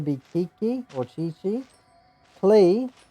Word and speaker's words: Klee: Klee or Clay is her. I think is Japanese translated to English name is actually Clay.